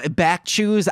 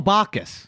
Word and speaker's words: Bacchus: what is the chalice of back juice Oh back choose I'm know I'm saying his name wrong he was the Chewbacca the god of wine and drinking ho Bacchus yes back choose baby theater so [